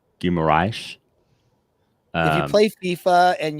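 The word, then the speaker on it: Guimarães: It's Guimaraes. If you play FIFA and you use the player from Newcastle, you'll hear the announcer say the Portuguese pronunciation of the name.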